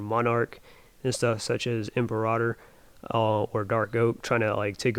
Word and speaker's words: Imperator: Yeah, I know I was saying Imperator, but it's actually pronounced Imperator. So that was my mistake in the last video.